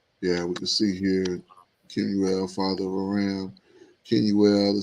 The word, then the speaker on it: Kemuel: Yeah, let's see how they pronounce that one. Kemuel.